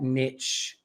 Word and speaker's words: niche: and europeans it's not niche it's niche because that rhymes with niches to riches it's not niche okay niche so i actually did look it up it's both but we're gonna go with